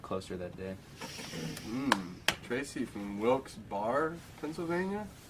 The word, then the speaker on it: Wilkes-Barre: that day Tracy from Wilkes bar Pennsylvania is that how do you say that questions Berry Wilkes bare depends on where you're from well I'm not from